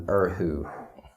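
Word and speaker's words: erhu: Appalachian name um but traditionally it'd be called an urhu and that's spelled e-r-h-u once again Google's would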